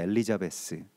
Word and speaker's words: 엘리자베스: 뭐 성경에서 엘리자벳 이렇게 발음이 되고 영어식 발음은 엘리자베스, 뭐 엘리자베스 테일러, 뭐